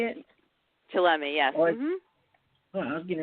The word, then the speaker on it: Chillemi: Chillemi, yes.